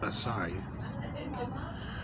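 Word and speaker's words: açaí: Strawberry, apparently it's pronounced Asai.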